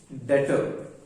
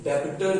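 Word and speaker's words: debtor: Next term जब हम पढ़ेंगे डेटर. डेटर है, इसको डेबिटर नहीं बोलना. इसमें जो बी वर्ड है वो साइलेंट है, तो इसे हम बोलते हैं डेटर.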